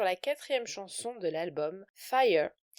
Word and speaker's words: FYA: quatrième chanson de l'album, Fire, qui s'écrit F-Y-A et qui est en fait la prononciation du mot fire, donc le mot anglais qui signifie feu.